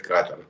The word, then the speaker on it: Катар: грядущем чемпионате мира в Катаре. Ну, англичане говорят Катар, французы говорят Катар. Там, ну, в общем, кто как говорит, но ударение мне удобнее словить на Катар, хотя вроде говорят, что правильно говорить Катар.